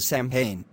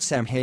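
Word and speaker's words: Samhain: the start and end the word Sam ha does not look how it's pronounced Sam Sam ha is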